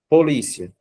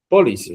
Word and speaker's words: polícia: Polícia, gente. Como nós separamos polícia, vocês já falaram. Fica assim, ó. Polícia. Qual é a sílaba mais forte em polícia? Poderia me dizer? O O li. LI. Muito bem, gente.